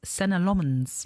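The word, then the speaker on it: Senne Lammens: I I heard him say his name is Senna Lommens.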